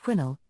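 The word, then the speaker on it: Quesnel: mil from the town of quinel pronounced quinnel on the Fraser River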